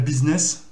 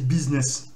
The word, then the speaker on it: business: Et tous les dérivés de ce mot-là, le U va se prononcer comme un I. Donc on a le business.